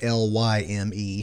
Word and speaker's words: Lyme: It's spelled Lyme, not Lime, so it's actually named after Lyme, Connecticut, where it was first discovered.